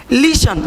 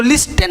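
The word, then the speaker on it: listen: भी अंतिम में हो तो उस टी का उच्चारण तो ओरिजिनल होता ही नहीं। जैसे हैसन, तो इसको हैस्टन नहीं पढ़ेंगे, हैशन। लिशन, इसको लिस्टन नहीं पढ़ेंगे, लिशन।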